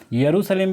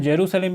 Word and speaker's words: यरूशलेम: यरूशलेम भी इसको कहते हैं, जेरूसलम भी कहते हैं और येरूशलेम भी कहते हैं। तो 3 तरह से इसको प्रोनाउंस किया जाता है, ये आपको याद रखना है।